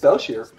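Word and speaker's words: Bel'Shir: It's just Belshire. Yeah, Belshire. Yeah, if it was Shire, there'd be an E at the end.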